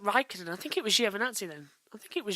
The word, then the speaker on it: Giovinazzi: So it's Giovinazzi.